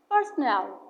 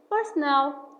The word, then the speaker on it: personnel: While personnel means employees or staff. Stress the last part. For example, all personnel must wear an ID card.